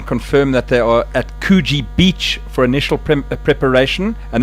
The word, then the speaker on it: Coogee: It's called Coogee, not Coogee. Coogee. He's now pronouncing everything as French because of that correction. There's no French, there's no S in Coogee.